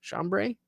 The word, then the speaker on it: chambray: denim or chambray shirts chambray is how you say that uh as part of